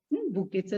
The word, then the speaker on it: bouquet: बुकेचं spelling नीट पाहून घ्या. त्याचा उच्चार बुके ऑफ फ्लावर्स असा.